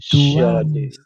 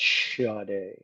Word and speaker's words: Sade: Sade My name is pronounced Sade. I know it's spelled Sade. But, it's pronounced Sade.